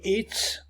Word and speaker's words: its: vous allez remarquer que its ici il est prononcé avec un s à la fin pas comme ici avec un Z donc il faut distinguer